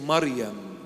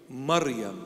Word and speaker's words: Maryam: maybe you've heard this before but the proper pronunciation is Maryam not Mary Maryam that's the proper name Hebrew Aramaic Syriac original